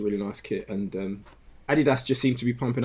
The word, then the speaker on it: Adidas: you only point out the guy's name is adidas isn't it that's how you pronounce the person's surname there's no there's no